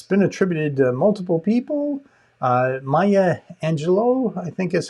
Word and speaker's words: Maya Angelou: Maya Angelou, I think is how she pronounces her name, is the person that is attributed to more than anyone else.